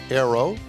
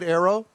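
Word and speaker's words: Ayro: Well, did I pronounce it right, Arrow? You did. It's spelled a little odd with A-Y-R-O, but it is pronounced Arrow.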